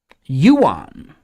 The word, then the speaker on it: Yuan: a goose farmer sure Yuan oh is that the way to pronounce that Yuan okay see I thought the currency was pronounced one so I've had that wrong for years too yeah I've had that